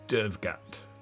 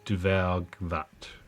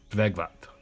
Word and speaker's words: Dvergvat: Looks exactly like the Lake of Dvergat. Or, let me try to pronounce that properly, Dvergvat. Dvergvat.